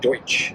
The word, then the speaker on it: Deutsch: It's not Dutch like Netherlands Dutch. It is Dutch like Deutsch, because apparently people can pronounce Deutsch, and it's actually German settlers that were here.